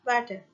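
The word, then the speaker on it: Vater: In German mother is pronounced as motor and Mutha and father is water.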